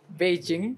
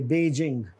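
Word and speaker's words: Beijing: take to fly from बेजिंग बेजिंग बहुत सारे लोग जो चाइना से पढ़ के भी आए होंगे चाइना में रह रहे हैं they will miss pronounce this word बेजिंग है ये बेजिंग नॉट बीजिंग और आगे ू ह्यूस्टन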